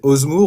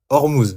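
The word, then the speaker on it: Ormuz: Oh oui, j'arrive jamais à le prononcer Osmour ou Hormous, merci. Je dis toujours Osmour.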